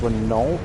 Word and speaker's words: Renault: The Americans, actually Ford specifically, built a 3 and a 6 ton tank, which was based on the, I believe it's pronounced Renault.